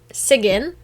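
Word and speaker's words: Sigyn: on the topic of loki's wife sigin that's actually how it's pronounced i had to google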